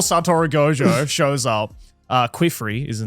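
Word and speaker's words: Qifrey: Uh Quifrey is her name or Kifrey? I always I never know how to pronounce it. say Kifrey.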